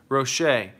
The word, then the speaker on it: Rocher: Roche. And you should know that because you never pronounce the R's at the end of your words either.